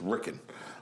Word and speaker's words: Riken: It's Ricken. It's spelled Riken, and so stick to the way they're spelled.